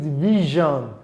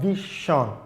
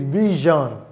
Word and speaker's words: vision: For example, the word is vision, not vision. It is vision.